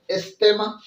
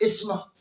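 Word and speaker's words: asthma: तो आज का हमारा टॉपिक है इस्तेमा या इस्मा। दोनों लफ्ज आप दोनों तरीकों से आप प्रोनाउंसिएशन कर सकते हो, इस्मा इस्तेमा।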